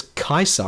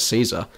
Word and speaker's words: Caesar: Why do they pronounce it as Kaiser and not Caesar?